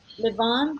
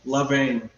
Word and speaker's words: levain: the mothers, and to Levan. How do you say that? I think Levain. a lot. Like Adam Levine. Just think of it that way. Adam He's vain. Levine. Okay. He's vain. Levain.